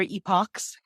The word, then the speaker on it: epoch: a little bit of is it epic or Epoch and people pronouncing it both ways and neither way is wrong and we don't get